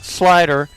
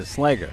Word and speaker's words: Slager: And we've got Scott Slider. I didn't say it right. No, it's a Slager. Slager? Slager. That sounds like something a teacher would tell a student. You know, Mrs. Johnson, your son is a real slacker.